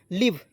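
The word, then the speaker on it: leave: बड़ी के रूप में व का प्रयोग व के रूप में लिव इ को साइलेंट लिव इसके बा देखिए ई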